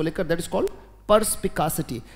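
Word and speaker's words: perspicacity: या फिर इसी के लिए एक वर्ड आता है, मेरे साथ बोलेंगे, बोले परस्पिकासिटी। बोले, शाबाश, बोले परस्पिकासिटी। वेरी गुड, बहुत अच्छे, उच्चारण करते रहिएगा, पर्स, PERSPICA, परस्पिकासिटी।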